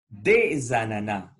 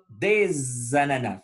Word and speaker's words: des ananas: Jean achète des ananas. Des ananas. Faites attention à la liaison. Le son S, qu'on ne prononce pas toujours, on va le prononcer Z.